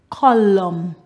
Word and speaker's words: column: with that known knowledge words that end with m n the last letter is silent the n autumn column con dem damn words